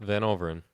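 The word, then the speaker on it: Van Overen: Van Overin.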